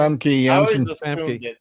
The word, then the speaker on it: Famke Janssen: Famke Janssen.